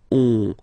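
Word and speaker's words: onze: 11, 11, okay, so O plus N give you the sound on, 11, 11, okay, final E doesn't exist phonetically, 11, okay, 12, 12, O, U, the two together will give you the sound OO.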